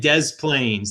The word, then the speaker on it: Des Plaines: actually that is des moines des moines and des plaines they're different but they're in the same region